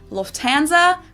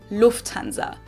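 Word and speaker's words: Lufthansa: flown with them before in English people usually say Lanza but in German we say Lanza so the emphasis on the first syllable Lanza versus Lanza Lanza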